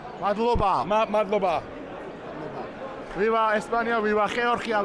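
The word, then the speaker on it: მადლობა: But I wish you madraban, which is thank you, yeah? Or how do you say thank you? Madloba.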